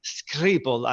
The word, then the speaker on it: Schiphol: Because also you showed a slide where there are Lyon, Köln, or Amsterdam, Schiphol Airport. And this is the right pronunciation, Schiphol.